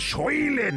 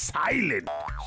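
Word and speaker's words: silent: বাড়িয়ে কাজ করো কতবার বলেছি যে ওটা সইলেন নয় সাইলেন্ট সেই ভুল সোধরাবে দাড়াও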